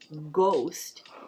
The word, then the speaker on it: ghost: So that H in the word ghost is silent.